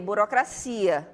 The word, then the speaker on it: burocracia: Já burocracia, não. A gente observa que em português a gente fala o quê? Burocracia, não é isso? Em espanhol, burocracia.